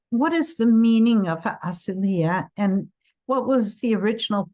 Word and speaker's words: Asylia: Um, it's aselia in Okay. Not always, but very very commonly the accent of a Greek word is on the next to the last syllable.